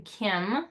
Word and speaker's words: Caim: have stepped inside the Kim Circle uh the Kim is spelled c a i m and it is